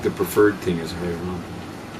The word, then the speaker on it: Rama: But, you know, I think the preferred thing is Hare Rama. And that's the original Sanskrit, and the Ma is pronounced in Sanskrit. In the other languages, the Ma may not be pronounced Hindi or So, you know, you